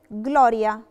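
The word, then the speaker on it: gloria: يعني لو عندي جي ال ما بين حرف ساكن وحرف متحرك او في بداية الكلمة، ساعتها بنطق حرف الجي.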